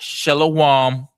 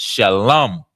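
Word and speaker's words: שלום: Not shalawam. Not shalahama or whatever they say. They say a lot. Right. You know what I'm saying? It's shalom.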